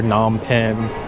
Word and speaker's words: Phnom Penh: I gotta start saying Phnom Penh because that's the proper way to say it, because in the internet I would hear Phnom Penh, Phnom Penh, but Phnom Penh is the correct way.